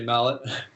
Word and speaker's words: Mallet: Well, I didn't know if it was Mallet or Malay or something fancy like that. People spell it Malay all the time, leave a T off the end. So I always pronounce it that way when people write it that way. But it's definitely meant to be Mallet.